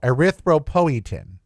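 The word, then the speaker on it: erythropoietin: So, one of the things they test is called your EPO, ariththropoetin. That's how you pronounce it.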